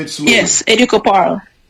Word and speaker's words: Educo Paarl: like how you have as well, Dax, by Educo Paarl, because I use the same name on Instagram, and I do have a website that I have been creating recently myself. So it's Educo Paarl.